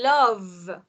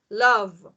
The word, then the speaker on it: love: vowel and we say love love what is the point here okay remember here guys the e is silent right the e is silent so we don't pronounce the e when we don't pronounce